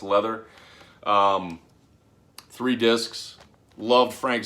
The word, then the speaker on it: Lather: this is uh pronounced leather I know it's spelled lather but this is actually pronounced leather um three discs loved